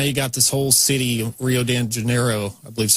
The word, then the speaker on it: Rio de Janeiro: So now you got this whole city, Rio de Janeiro, I believe is how you pronounce it.